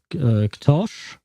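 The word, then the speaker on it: Ktoś: And she told me that your name, Ktos, with an accent at the end on the S, is actually pronounced Ktosh, I believe, and it means someone or somebody or something like that.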